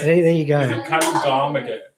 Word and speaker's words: Kalugamage: Krishan, I think it's Kalugamajay. Gosh. Gamagay. Kamage, yeah. Kalugamage. I got it. Right? There you go. Is it Kalugamage, right?